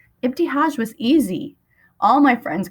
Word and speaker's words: Ibtihaj: It's Ibtihaj. Ibtihaj. I said each syllable as slowly as possible. It's pronounced just like it's written.